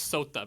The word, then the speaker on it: SOTA: I keep thinking about it as SOTA because that's how it pops up in my inbox. That's how we pronounce it, yeah.